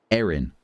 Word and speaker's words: Erin: They are two completely different names with two completely different pronunciations in British English. Aaron, Erin. Not in American English. In American English, they're identical.